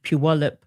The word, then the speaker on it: Puyallup: And I'm happy to say at least the Department of Education are now investigating this, how do you pronounce it? Puyallup, I believe, Puyallup School District.